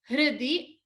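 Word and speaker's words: हृदि: Hridi bhaja. Stress on the Mahaprana bha. And remember to pronounce hridi a little softly. No stress on the hr.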